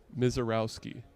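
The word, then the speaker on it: Misiorowski: into the camera and tell them the proper pronunciation for your last name. Mizorowski.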